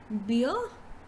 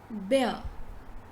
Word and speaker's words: bear: here is this so instead of saying beer it's bear bear bear bear bear bear right then the next word